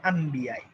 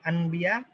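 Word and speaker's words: أنبياء: আসলে লেখা আনবিয়া এটা ঠিক, কিন্তু উচ্চারণটা কিন্তু আম্বিয়াই, উচ্চারণটা হচ্ছে আম্বিয়াই, কারণ এটা মিলিয়ে পড়া হয় আম্বিয়া এটা ওই যে আমরা কোরআন তেলাওয়াতের সময় মিলিয়ে পড়ার ব্যাপারটা যাই না, আম্বিয়া এটা মিলিয়ে পড়া হয় আসলে, আনবিয়া এভাবে না বলে আম্বিয়া।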